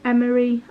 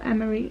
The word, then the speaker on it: Emery: So we went for Emery, Ariel.